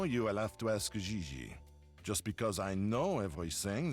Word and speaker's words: Gigi: No, I mean JJ. Gigi. JJ. En français, you pronounce G like J and J like G. She may very well be JJ in America, but in France, she is Gigi.